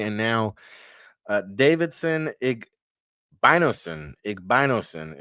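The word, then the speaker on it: Igbinosun: And now, uh, Davidson Igbinos, Igbinosen is how you pronounce it, a New Jersey product from Union.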